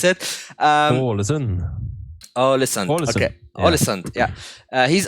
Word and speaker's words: Alisson: Is it Alisson, or how do you correctly pronounce it? Alisson.